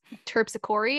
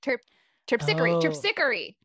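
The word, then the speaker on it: Terpsichore: talking about pronunciation that Rita told me that it's terpsichori I think trips Hickory that's the Muse uh from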